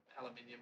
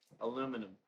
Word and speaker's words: aluminium: got out the Dremel and brushed it to aluminium or whatever it is. Aluminum. Yeah, Aluminium. Aluminum. Aluminium. aluminum. We spell it different.